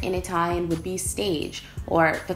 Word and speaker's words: stage: something completely different in a time would be staged or the correct pronunciation to be Stosh cuz they're taking it from the french meaning